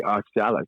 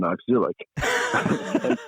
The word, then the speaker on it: oxalic: you as a southerner say oxalic rather than oxil and pronounce pronounce the